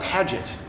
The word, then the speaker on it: Padgett: you see it yeah Padgett if it like rhymes with magic or tragic okay PA d GE